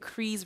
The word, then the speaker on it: Crease: Crease rhymes with cheese.